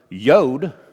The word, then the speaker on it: Yod: So back when Hebrew words were translated or transliterated to English, it was common to transliterate the Hebrew letter Yod, Y-U-D, kind of rhymes with Yoda, as a J.